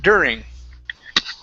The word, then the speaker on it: during: Right here, instead of during, instead of an oo sound, it's during. During.